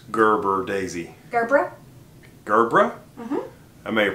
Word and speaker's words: Gerbera: Hello, it's Phil Thatch here again, and once again, Heather's, how do you pronounce Gerber, Daisy? Gerbera.